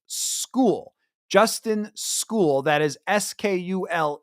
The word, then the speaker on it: Skule: tackle it is pronounced School Justin school that is SK e which when you look at it quickly your brain probably go skull just because I've seen